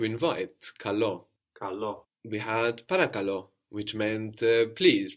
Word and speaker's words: παρακαλώ: We had παρακαλώ, which meant please. Παρακαλώ, σε παρακαλώ, please. Also the accent on the end.